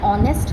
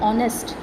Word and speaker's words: honest: Example, an honest man, an R, an honor. See, when we use this H is silent. The pronunciation of honest, O.